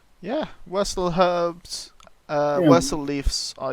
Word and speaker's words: Wirsel: They are Wursel herb. So it's spelt Wirsel, and there's 3 doses of Wursel herb.